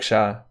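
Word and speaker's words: siya: It's just Sia, pronounced like Sha. Sha.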